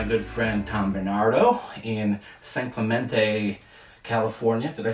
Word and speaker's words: San Clemente: you know it's funny the people who live here say Saint Clemente thank you about know it's supposed to be the Spanish sounding thing that the locals say actually say San Clemente all right hey hey